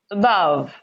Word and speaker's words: above: syllable you get that the same thing when i say a word like this above above above above above you hear this small okay so that means that this is stressed above the second syllable and this one this ah is where the stress falls all right now we